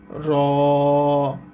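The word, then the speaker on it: راء: আর নিচে ছুরির মত এই অক্ষরটার নাম হচ্ছে র নিচের ছুরির মত এই অক্ষরটার নাম হচ্ছে র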